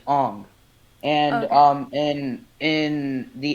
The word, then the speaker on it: Aang: are based off of eng would actually be pronounced on and um and in